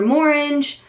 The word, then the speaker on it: Morange: And I also got the lipstick in the color Morange, and it's orange with an M on the beginning of it, so I'm pretty sure that's how it's pronounced.